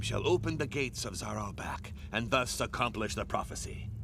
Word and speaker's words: Naheulbeuk: Together, they have just crossed into the terrible dungeon of Naheulbeuk. That's how they pronounce it. This Naheulbeuk.